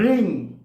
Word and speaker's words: ह्रीं: ऐसे ही ह में आप र फोड़िए, क्या आएगा? ह। र, ह का भी उच्चारण हुआ, र का भी उच्चारण हुआ, र। वही है रिंग। र में बड़ी की मात्रा, अंग का उच्चारण, रिंग।